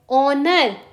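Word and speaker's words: honour: हैं H silent है ऑनर इसमें एच साइलेंट है आर इसमें एच साइलेंट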